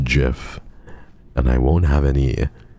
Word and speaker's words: GIF: was a biased pull if you pronounce the letters they're literally j i f g g j i f it's pronounced Jiff and I won't have